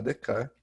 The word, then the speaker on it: Descartes: Então, os principais nomes desse iluminismo nascente, deixa eu colocar aqui o I maiúsculo, são René Descartes, ou René Descartes, o jeito certo de falar é Descartes, que viveu entre 1596 e 1650.